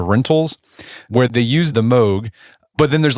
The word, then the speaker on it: Moog: Is that how you pronounce it? Moog or Moog?